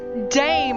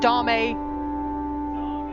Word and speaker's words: Dame: Sorry, I was just informed that I'll pronounce dame wrong. Not dame. Dame.